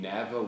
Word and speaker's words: Nava: I'm here in the Nava workshop. What do you call it? The workshop. Workshop. Yeah, man. This is my buddy Josh Nava. You pronounce it Nava? Nava. Nava. Yeah. That's Like nice. Navajo.